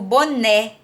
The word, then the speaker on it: boné: Já o acento agudo é mais aberto, tá?